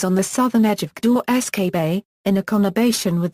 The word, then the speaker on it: Gdańsk: In Polish, the modern name of the city is pronounced Gdańsk.